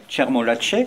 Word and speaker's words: Tchermolatche: C'est Tchermolatche, c'est comme merci ça qu'on prononce pour, c'est exactement voilà, comme ça.